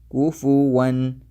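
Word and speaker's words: كفوا: So you should say it like walam yakul lahu kufuwan ahad, kufuwan, like this.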